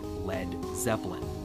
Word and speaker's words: Led Zeppelin: his band's new name he removed the a so it wouldn't be pronounced lead and that's where we got Led Zeppelin there is evidence feed